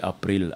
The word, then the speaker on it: April: April, c'est comme en anglais, mais l'anglais dit April. L'allemand dit April, A-P-R-I-L. On lit ce qu'on voit.